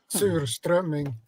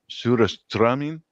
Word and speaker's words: Surströmming: How do you pronounce it? Surströmming. Surströmming.